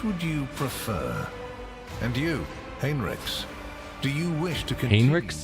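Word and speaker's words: Heinrix: See, feels like it should be Hinrich, but apparently it's Hinrix.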